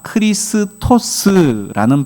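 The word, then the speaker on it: Χριστός: 그리스도를 뜻하는이 그리스어가 크리스토스라는 발음을 가지고 있고요. 오늘 우리가 살피는이 친절이라고 말하는 용어가 크레스토스. 어째 좀 비슷합니까? 네. 그렇죠.이 이 단어의 발음이 좀 서로 비슷한 바람에 많은 사람들이 예수의 초기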